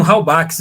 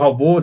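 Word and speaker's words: Halbwachs: sociologia e que tem com Halbach ali, ou Halbo, dependendo de qual a escolha da pronúncia, que vai fazer essa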